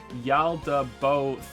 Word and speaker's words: Yalda Boeth: It's Yalda Boeth. Bo as in to bow. Oh, bow. Yalda Bouth?